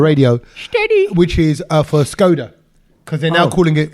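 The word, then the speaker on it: Škoda: move actually why because scod reminds me of all the jokes you used to have about scod no but that's how you say it in the language I know yeah but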